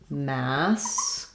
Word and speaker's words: masculine: And then when you're doing masculine, it changes to stressing on the mask. So sounds like masculine.